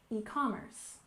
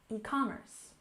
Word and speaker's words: e-commerce: we have e-commerce and we stress the second syllable e-commerce e-commerce and we use this